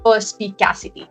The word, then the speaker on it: perspicacity: I'm sure we're going to discuss more about perspicacity.